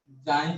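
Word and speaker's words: χ: चाय लिखा रहता है, जाई प्रोनाउंस किया जाता है, ठीक है ना भाई। तो मैं इसको एक्स ही बोलूंगा, कई लोग चाय भी बोलते हैं, ठीक है। हमारे टीचर ने हमको बताया इसको जाई बोलना।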